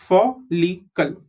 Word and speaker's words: follicle: FOL, fall. LI is Li, CLE is Kal, follicle.